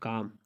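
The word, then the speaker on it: calm: जैसे आप कहते हैं काम, मतलब पुरसकून। अच्छा, तो इसमें आप देख सकते हैं कि एम से पहले एल आया हुआ है और उसकी खामोश है।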